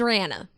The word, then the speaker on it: Rihanna: just talking about rihanna if you ask rihanna she she says her name's rana no one else says that except for her so it's it's just